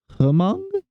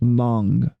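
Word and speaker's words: Hmong: not too well educated it's pronounced Mong oh I don't I'd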